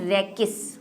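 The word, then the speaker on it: rachis: हम क्या कहते हैं, रेकिस। कई जगह आपको रेचिस भी लिखा हुआ मिल सकता है क्योंकि CH स्पेलिंग में है, ठीक है, रेकिस।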